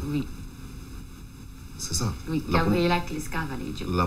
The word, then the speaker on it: Gabriela Clesca Vallejo: Alors, c'est Gabriela Clesca Valedio. Oui. C'est ça. Oui, Gabriela Clesca Valedio. La prononciation jusque-là Oui, ça est correcte.